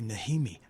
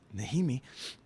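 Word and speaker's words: Najimy: And I was like, oh my God, that's Kathy Nijimy. I thought the J was like Hickam.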